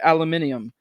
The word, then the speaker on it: aluminium: Should that only one firm is producing, or suppose that only one firm is producing aluminum, or as the British say, aluminium, should we start yelling